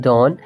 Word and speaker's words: dawn: DAWN का मतलब होता है डॉन। मतलब इसका प्रोनाउंसिएशन होता है डॉन।